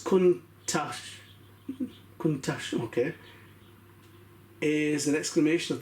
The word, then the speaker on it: Countach: So the word Countach, pronounced as Countach, okay, is an exclamation of the astonishment in local Piedmontese language.